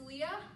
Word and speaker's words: Leia: time Princess Leia um it's pronounced Leah take your crest of